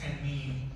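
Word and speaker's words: תנין: Dragon in Hebrew, the word is tannian. They're mentioned in different parts of the Bible. It's pronounced tannin.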